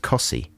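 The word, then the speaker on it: Costessey: very near wymandum that's spelt costessie and it's pronounced cossie so you can really get a lot of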